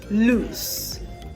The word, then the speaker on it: loose: Loose and lose. Okay, so you see the difference in the pronunciation. Now for lose, the L-O-S-E, you have Z as the last consonant sound.